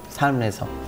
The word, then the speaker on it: 삶: 삶에서. 이 발음이 맞는데.